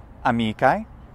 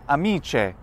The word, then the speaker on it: amicae: In classical, amicae. In ecclesiastical, amice. Well, that's weird.